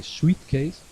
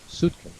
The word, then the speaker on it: suitcase: Remember, you don't pronounce the I in this word. You don't say suitcase. You need to pronounce suitcase.